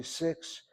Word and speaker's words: six: If I say six, sounds like a KS.